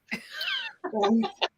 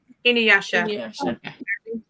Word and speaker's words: Inuyasha: Inuyasha, you're right. Inuyasha, you're right. Inuyasha.